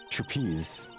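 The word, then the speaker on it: trapeze: on the trapezi it's it's trapezi the E is silent just like I wish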